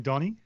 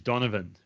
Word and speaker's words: Donovan: stuff like that and it said in bold letters it is not Donnie it is Donovan right he must have